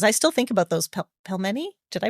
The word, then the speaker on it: pelmeni: I'm just selfishly asking now for me, but like any dumpling recipes, those, because I still think about those pelmeni. Did I pronounce that right?